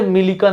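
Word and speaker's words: Millikan: अरे मिलिकन लिख दे भाई, उसका अलग अलग स्पेलिंग होता है, मिलिकन बोलते हैं, मुलिकन बोलते हैं, अलग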